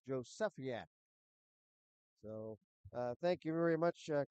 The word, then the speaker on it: Jozefiak: And Coach Burns before the game told me that's pronounced Josefiak.